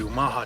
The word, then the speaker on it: Omaha: don't realize that Omaha is named after the Omaha tribe correct pronunciation is Omaha Omaha people against the current